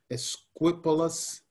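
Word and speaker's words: Esquipulas: How do you pronounce that? Esquipulus.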